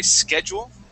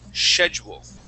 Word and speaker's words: schedule: So in the United States, we say schedule. Yes. And in Britain, they say schedule. Yeah. Schedule. Okay. Yeah, they pronounce that as an SH sound, schedule.